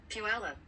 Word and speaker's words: Puyallup: All right, you want to hear how it's pronounced? Yeah. Puyallup.